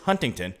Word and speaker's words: Huntington: It is Huntington. Now, I myself, I won't pronounce it like that. I'll say Huntington.